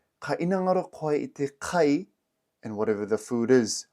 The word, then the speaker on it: kai: Kai is a three-letter word. This is spelt k a i.